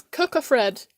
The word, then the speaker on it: Cocofred: It's Cocofred, as in cocoon, Fred, Cocofred. That's how you pronounce it. Not Coco as in, like, Coco the chocolate.